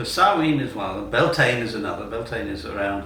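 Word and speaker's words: Bealtaine: it sounds so saen is one of them belan is another belane is around the time of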